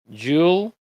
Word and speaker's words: jewelry: De hecho, esto tiene solamente dos sonidos. No cuenten las sílabas en inglés así. Eso es en español. Las sílabas en el inglés se cuentan con el sonido y pues jewelry son dos sonidos. Jewel y ring.